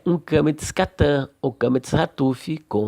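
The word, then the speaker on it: קמץ חטוף: Kametz antes de makef, traço horizontal que une duas palavras, será kametz hatuf ou katan. Logo, ele terá som de ó.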